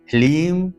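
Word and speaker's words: ह्लीं: सारा खेल है ओम लीम श्रीम क्लीम नमः यहां पर लीम है ह्रीम नहीं लीम ह लीम लीम श्रीम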